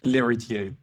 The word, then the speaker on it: Lhéritier: I'm sorry, I don't know how to pronounce it. Laritier. Yes, Larier.